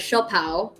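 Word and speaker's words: siopao: steam bun because in the philippines we have shaw pao it's spelled s-i-o-p-a-o xiao pao and it's um white steamed buns and they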